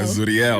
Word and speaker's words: Zuriel: Is it Zural, Zuru, Zuriel? I actually need to give you something for saying it right. Oh, thank you. Yeah, Zuriel. Yeah. So you're saying it right. People are Zuriel, Zural. And I'm like, oh they my gosh. butcher it all the time.